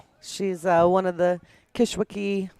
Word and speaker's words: Kishwaukee: uh one of the kishwaki Kishwaukee I always want to say it like Kankakee you say kiss Wiki I know I'm just